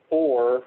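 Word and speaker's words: OUR: with the crew from OR, which is spelled O-U-R, but is pronounced OR.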